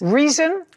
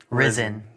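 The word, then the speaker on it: Rizin: Reason. Ryzen. Ryzen. Spell it.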